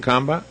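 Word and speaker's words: Khambhat: that I don't know k h a m b h a t would you pronounce it combat I don't know sounds like combat yeah I don't know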